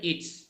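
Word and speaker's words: its: ইওরস there's ঠিক আছে এটা আবার স উচ্চারণ হবে ইটস মনে থাকবে জি ওকে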